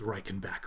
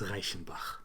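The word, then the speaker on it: Reichenbach: which is in Switzerland and um most people mispronounced that as Reichenback or something like that. It's Raichenbach.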